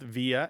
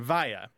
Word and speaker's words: via: The second thing is there are two standard pronunciations of this word, and they overlap greatly, and it's not altogether clear to anyone which one is the most correct at all times. Throughout the English-speaking world, people say both via and via. There is a general kind of separation of the two pronunciations.